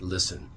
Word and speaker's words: listen: Know how we spell this word, listen. L-I-S-T-E-N. The T in this case sounds like an S. We pronounce this word, listen.